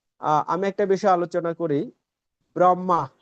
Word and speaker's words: ব্রহ্মা: ব্রহ্মা এই যে আমরা বাংলায় বলি ব্রহ্মা। এখানে কিন্তু আছে কি? হ আর ম তারপর আকার ব্রাহমা। এভাবে করে উচ্চারণ করলে এটা হচ্ছে পারফেক্ট।